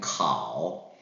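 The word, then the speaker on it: 烤: 읽을 때는 카오 이런 식으로 읽어주시면 되겠어요.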